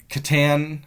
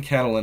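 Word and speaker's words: Katyn: Well, the Soviet Union made the situation worse because instead of saying the Catalin Ma the Katan, I'm saying Catalin, I'm adding an L into it.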